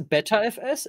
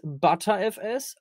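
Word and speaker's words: Btrfs: Pronounced as BetterFS, ButterFS or B3FS. Geht alles.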